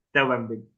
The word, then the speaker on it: Steubenville: A ver si lo pronuncié bien. Steubenville. Benville, así es como lo pronuncian los americanos.